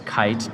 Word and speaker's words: Kiite: to start our website it's kite AI of course and that's spelt with two eyes okay IIT a eye and the best place